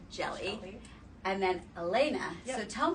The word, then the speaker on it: Hjelle: Elena Al see okay your last name is jelly h j e l l e yep and thank thankfully she she spelled it out it's jelly and then Elena so